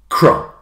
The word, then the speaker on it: crumb: So the first word up is crumb. You can't hear the B of crumb.